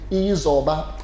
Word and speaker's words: Izoba: Izoba.